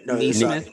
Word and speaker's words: Naismith: Is it Naismith or Neesmith? Because I want to be saying it right. Neesmith. Neesmith. Okay. I keep wanting to say Naismith just because of the Hall of Fame.